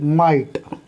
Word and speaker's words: might: जैसे माइट, MIGHT, माइट, इसकी आवाज़ नहीं निकली।